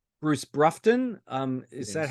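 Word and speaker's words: Broughton: I'm going to call it, say, Bruce Brufton. Is that Yes. how you pronounce it?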